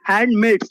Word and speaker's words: handmaids: That's why lawful handmaids बोलते हैं, handmaids, not handmade, handmade, yes, okay.